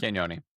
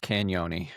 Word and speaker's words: Cagnoni: So, we've we've all watched some tape on Luca Canon. Um and uh you just don't pronounce the G. It's just Canon, I think.